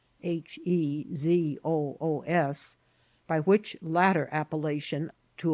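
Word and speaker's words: Jesús: shocked to hear that his name was Jesus pronounced in Spanish Jesus h e z o oos by which latter appellation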